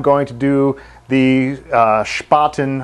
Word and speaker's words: Spaten: to do the uh spoten I guess that's how it's pronounced spaten spoten it's probably pronounced German spoten and it's October Fest